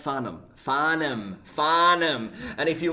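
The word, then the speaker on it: Farnham: listening to John faram as a kid right fham no faram it's spelled fham it's it's pronounced faram faram fom and if you want to be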